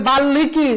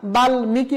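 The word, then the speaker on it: বাল্মীকি: তারপরে স্মিত বাঙময় গুলমো বাল্মিকি কেউ যদি বলে বাল্লিমিকি না না হবে না বাল্মিকি বলতে হবে বাগ্মি হিরণময় উন্মাদ এই যে একবিংশ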